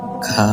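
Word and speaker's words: خ: ৩ number মাখরাজ হলকের শেষ হইতে গইন খ, উচ্চারণটা গাইন হবে না, গইন হবে। উচ্চারণটা খা হবে না, খ হবে।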